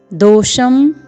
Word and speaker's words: दोषं: अनुस्वार है कुलक्षय कृतम, फिर द में ओ का स्वर है, पूर्ण वर्ण मूर्धन्य श है जिसमें अनुस्वार लगा हुआ है दोषम।